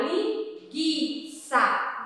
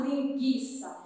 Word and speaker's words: linguiça: Porque se a tia falar o gui, vai ficar linguiça. Nós não falamos linguiça, nós falamos linguiça. Então, essa é alguma das palavrinhas em